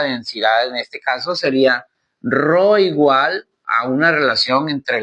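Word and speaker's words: rho: marcador se escribe con la letra griega ro ro se escribe RH o muy bien y el símbolo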